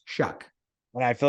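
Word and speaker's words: Shough: okay it's some people's h-o-u-g-h but it is pronounced shuck and I feel like every year we go back and forth and I was like I was on the impression that I shook but anyways he has not played a full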